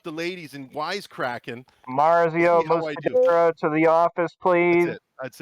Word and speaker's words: Muscedere: Did I say it right? Muscedere, but very close, yes. How do you say it? Muscedere, actually. Muscedere. Is it really?